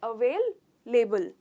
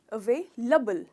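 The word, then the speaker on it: available: तो ये लेबल नहीं है, इसका प्रोनाउंसिएशन है अवेलेबल। तो ले नहीं, ल।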